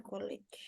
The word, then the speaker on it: college: attend college. College, bacanya J ya, pakai J.